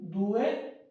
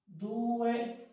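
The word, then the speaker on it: due: आगे है टू, दुए, दुए, डी के बाद ऊ आए तो आवाज होगा दू, दुए, ऊनो, दुए।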